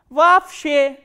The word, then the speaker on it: вообще: And you have to remember, whenever two o sounds come together or two letters o come together in a word, this double o will be pronounced as a single a.